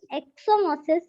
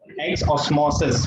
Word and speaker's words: exosmosis: Plasmolysis in a cell occurs due to endomosis, exomosis, diffusion. Exomosis. Exosmosis. Pronounce it properly.